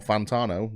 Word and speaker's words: Fantano: So it is a Fantano, or Fantano, when you say it properly, Chris.